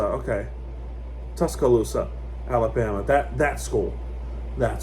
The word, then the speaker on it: Tuscaloosa: Okay, it's Tuscaloosa. Okay. Tuscaloosa Alabama that that school that school yet and